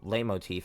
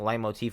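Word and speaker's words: leitmotif: against a true hero lay motif. I think it's a light motif. I It's I don't know this stuff. I I think light motif is the correct way to say it.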